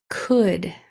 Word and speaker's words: could: sight word is could could rhymes with would and should they're all spelled similar similarly they just have Beginning Sounds that are different could would and should both have that o-u-l-d at the end so push pause here